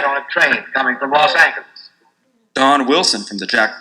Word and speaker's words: Los Angeles: spanish accent will prevail the times advocated for the spanish pronunciation and actually printed its preferred pronunciation los angeles under the paper's masthead